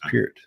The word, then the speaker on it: Peart: It's Neil Peart. Yeah, it's not. Yeah. They used to pronounce it Peart all the time, but it's Peart.